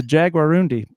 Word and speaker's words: Jaguarundi: It's a Jaguarundi. So, anyways, it was a good thing he said it wrong because that name had no web presence.